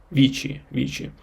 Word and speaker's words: vici: And the third verb, which is vici, it is the source of the word victory, like vic. It spells V-I-C-I, but it is pronounced like Vici, and victory derives from this verb vic.